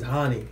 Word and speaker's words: Hani: Okay, my name is Hani. H-A-N-I. So. Okay. Yeah, you can pronounce it honey. That's fine. No, seriously, that's how it's pronounced.